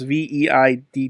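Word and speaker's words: Veidt: Is his last name Veet or some shit like that? Yeah, his last name is Veid.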